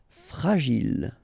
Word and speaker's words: fragile: Okay, final E not pronounced. And then when you get these G and I, J. Gilles. Fragile.